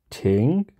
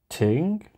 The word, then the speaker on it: 庭: Courtyard equals equals Courtyard and the way we pronounce this guys is ting Ting so once again that's shelter Plus Court equals